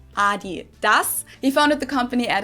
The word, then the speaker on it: adidas: what they were referring to because they usually pronounce it adidas and in germany we say adidas adidas adidas there's definitely a difference the second